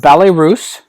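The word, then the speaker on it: Ballets Russes: code word is ballet this is pronounced Ballet Russe and I've seen several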